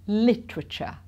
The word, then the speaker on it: literature: So here we're missing out the E, I believe, literature.